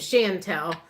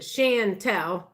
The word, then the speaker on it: Chantel: I have a cousin named Chantel. She spells it different, but that's how she pronounces it. Chantel.